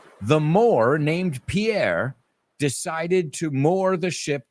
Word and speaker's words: Pierre: Pierre is the French person's name, Pierre. And we say pier es solo una sílaba.